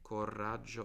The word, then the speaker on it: coraggio: Coraggio. I think it has 2 R's. Forgive me if not. Coraggio. I pronounce it like that, so I pronounce it with 2 R's.